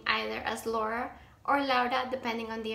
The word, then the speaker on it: Laura: How many syllables is that? That's two syllables, right? If you use three syllables instead, so like if you say Laura, it's a bit different, and if you say la hora, it actually sounds like la hora, which is the time.